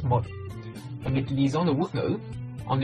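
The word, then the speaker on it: một: Ceci est le chiffre 1 écrit en homme, ça se prononce moi.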